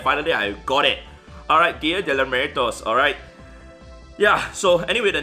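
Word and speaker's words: Día de Muertos: And I was trying so hard to pronounce and finally I got it. Alright, Dia de Muertos, alright?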